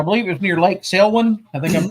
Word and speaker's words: Selwyn: And you found a trackway, and I believe it was near Lake Selwyn. I think I'm pronouncing Yeah, it was right. Selwyn Lake.